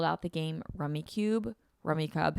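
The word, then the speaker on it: Rummikub: Rummy Cub. How do you guys say that game? I say Rummy Cube, but I think it's pronounced Rummy Cub.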